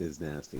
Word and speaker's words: Iznazti: voice to the player series is it pronounced is nasty it is pronounced is nasty is nasty he is big he is bad